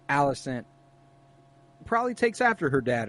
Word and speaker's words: Alicent: Or Otto sees how close Rhaenyra and Alicent, is that how you say it? Yeah. Alicent, how close they are, and then he uses her to manipulate Rhaenyra.